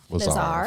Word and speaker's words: Fleszar: Fleszar. Flezar. Flezar. Okay, so I said it right the first time, and I just didn't trust myself.